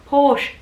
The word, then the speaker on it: Porsche: no it's porsche porsche the e is silent porsche so you can say